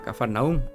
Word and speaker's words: Cafarnaúm: días quienes descendieron luego a cafarnaúm o a capernaum en las dos pues versiones se puede pronunciar mencionar de las dos formas Jesús su madre y